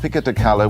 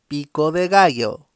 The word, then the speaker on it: pico de gallo: me about the fillings then you've got a Pico de color which is basically pico de gallo great pico de gallo say after me kids pico de gallo you're gonna pick them